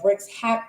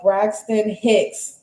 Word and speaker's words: Braxton Hicks: labor pains, which is the bricks hack. Uh, hold on, let me let me say it right. Hold on. Uh, Braxton Hicks.